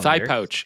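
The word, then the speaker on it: Thypoch: Thigh pouch. It's pronounced thigh pouch lenses.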